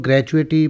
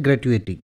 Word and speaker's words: gratuity: इसको कुछ लोग ग्रेचुइटी पता नहीं क्या-क्या बोलते हैं। ये इसका जो सही प्रोनाउंसिएशन होता है वो होता है ग्रेट्युइटी ग्रेट्युइटी और ग्रेट्युइटी का मतलब होता है उपहार, भेंट, इनाम या ऐच्छिक दान।